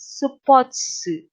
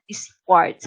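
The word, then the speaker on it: スポーツ: music magazine we have sports written in katakana but read as supotsu supotsu not sports because when in you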